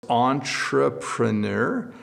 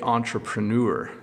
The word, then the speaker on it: entrepreneur: So it's entrepreneur, but some people say entrepreneur. So I say entrepreneur. So there's two different pronunciations.